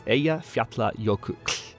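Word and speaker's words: Eyjafjallajökull: to pronounce that, it's Eya Fiatla Yoku. Like, the last sound is a weird, really weird sound that doesn't come to the English language naturally, but Icelandic, the Icelandic language has that sound, and it's so tough to pronounce.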